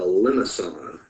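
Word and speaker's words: limaçon: The next type of polar graph that I want us to be familiar with is called a limacon. Limacon, the way that is pronounced.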